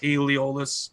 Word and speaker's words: Aeolus: I don't even know if that's how you pronounce it, Aeolus. It's spelled kind of like Areolus, but it's Aeolus.